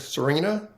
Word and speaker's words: Serina: Her name is Serena. It's spelled Serina.